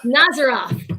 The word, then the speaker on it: Nazaroff: Nazaroff. Did I say it right? Yeah, you were pretty close. Nazaroff. All Just right. gotta say it like you're from Wisconsin.